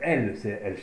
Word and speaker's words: El: Donc on voit ici, donc est un raccourci d'A, Y, I, L, donc, mais ça donne sa consonance L quand même, hein, on l'entend L, qui signifie un grand arbre, mais mieux encore, L signifie un pilier, un pilier.